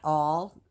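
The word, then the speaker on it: awl: in most journals um I would use my all it's spelled a-w-l um they do produce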